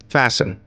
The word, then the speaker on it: fasten: Fasten. Here T is silent.